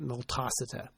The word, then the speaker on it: multocida: A common bacteria in the mouth of cats, and to a lesser extent the mouths of dogs, is Pasteurella multocida. Some people pronounce it multocida, and other members of the Pasteurella family.